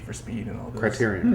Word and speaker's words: Criterion: that was created by Crichton Games, who Burnout and Need for Speed and all those. Criterion. Criterion, I mean. Yeah. You're right. My bad. Pronouncing it wrong.